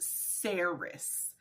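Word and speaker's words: Saeris: look up the pronunciation Okay Google says it's pronounced sarus It's s a e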